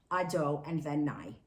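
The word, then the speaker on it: אדני: When we say it in Hebrew, we read it Ado and then Nai.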